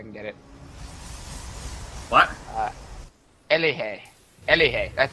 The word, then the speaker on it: Elige: Elige. That's how you pronounce it. Elige.